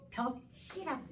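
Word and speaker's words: 볍씨: 발음에 벼씨가 아니라 이걸 읽을 때 쓸 때도 똑같아. 벽씨라고 해요.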